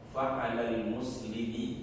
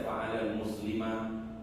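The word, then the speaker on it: فعلى المسلمِ: Fa'alal muslimi, gak boleh dibaca fa'alal muslimah, fa'alal muslimu, gak boleh. Tapi dibacanya apa? Fa'alal muslimi, ya.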